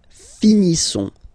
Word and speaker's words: finissons: Nous finissons. Finissons. Okay, final S not pronounced.